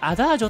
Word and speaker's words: A: A と書いてアダージョと読む。